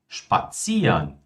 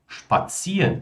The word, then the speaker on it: spazieren: Verbos que terminam em iren são pronunciados como ian.